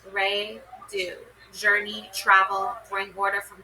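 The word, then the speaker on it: Raidho: Okay, interpreting the runes, pronounced Re Do.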